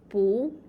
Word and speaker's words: 不: 不 It's pronounced as 不 For example, 不会说汉语 Cannot speak Chinese.